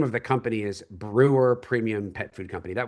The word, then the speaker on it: Breuer: The the truth is the name of the company is Brewer Premium Pet Food Company. That was the original name. It's still kind of the holding company. Brewer is my surname.